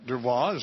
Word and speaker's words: Dubois: Also, Melissa Dubois. Am I pronouncing your last name right?